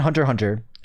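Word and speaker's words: Hunter × Hunter: Um, a few of my favorite animes are Well, I always recommend Hunter Hunter. It's um Hunter X Hunter, but you don't pronounce the X.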